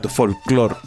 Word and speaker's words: folclore: Exacto, como que folclore. Y además que bueno, hay un apunte, tengo cierta fascinación con las palabras que son agudas. Sí, es que tiene el acento ahí en la última sílaba.